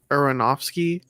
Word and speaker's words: Aronofsky: Aronofsky.